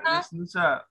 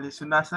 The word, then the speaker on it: Lesnusa: Lesnusa, bukan Lesunasa gak?